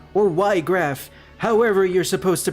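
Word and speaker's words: Wiegraf: Forgive me, Vigraf, or Ygraf, however you're supposed to pronounce it. We'll learn in the remake. I'm pretty sure it is supposed to be Vigraf, considering it's German, and knowing Weiss from Final Fantasy VII, as well as,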